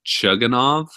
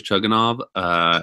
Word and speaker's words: Chugunov: The backup quarterback for West Virginia, I believe it's pronounced Chugunov, Chris Chugunov, is serviceable, but to be honest, he is probably not ready for this offense, for this kind of level of competition.